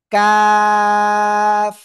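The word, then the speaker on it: ك: কিন্তু একটুখানি সামনে বাড়াবো একটুখানি সামনে বাড়িয়ে তার বরাবর উপরে তালুর সাথে লাগিয়ে একটু চিকুন আওয়াজে চার আলিফটা নিয়ে উচ্চারণ করব কাফ কাফ প্লিজ দেখেন আমি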